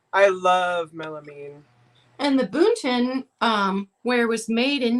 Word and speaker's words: Boonton: yeah yeah it's all boonton ware can you spell that i'm having a hard time hearing it b b-o-o-n-t-o-n can you see it yeah boonton just like